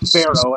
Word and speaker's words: Fero: Tonight we are joined with Brandon Keith Fero. I assume I pronounced your last name correctly. Yep, Pharaohs of Egypt.